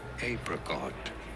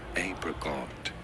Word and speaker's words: apricot: it is said as apricot, apricot. You do want to stress on the first syllable. In American English, however, it is usually said as apricot, Oh, there you go. apricot in American English versus There you go.